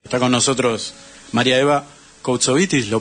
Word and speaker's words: Koutsovitis: Está con nosotros María Eva Koutsovitis, ¿lo pronuncio bien?